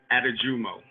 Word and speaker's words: Adejumo: jumbo correct yes correct okay why don't you pronounce it for me so i get it correctly uh attijumo atajumo okay great great so i have seen a